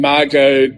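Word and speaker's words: Margaux: you end up with a camp ikem and Margot correctly pronounced I spelled m-a-r-g-a-u-x on the list was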